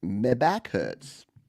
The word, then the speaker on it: MEHBACKHURTZ: It's Meback Hurts, but it's spelled MEHBACKHURTZ. Or Z. And I just love it. As soon as I saw this pop up, I'm like, Grand Theft Auto, my back hurts.